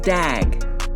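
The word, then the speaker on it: דג: And that word in Hebrew is pronounced dag.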